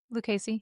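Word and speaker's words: Lucchese: was it is I don't know how to pronounce it. Lucasey. Lucasy. How do we say these boots? Well yeah Lucasy.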